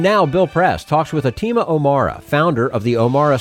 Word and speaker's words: Atima: Atima, is that how you pronounce it? Atima.